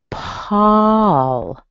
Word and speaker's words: Paul: Coast where I live, it sounds like ah. It doesn't sound like anything like an O or an ow. It's ah. And the other thing to look at is you actually have a little schwa between the A and the L. So this is how I would say this guy's name. Paul. Paul. Paul. You notice the little before the L?